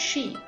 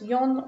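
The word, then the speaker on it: 四: The number 4 is pronounced she, the same as the word for death, and is considered very unlucky.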